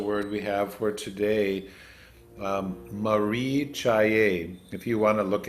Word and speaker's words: caye: And we'll just touch on this special word we have for today, caye. If you want to look at your screen, I've shared something. The C is pronounced a CH in the transliteration.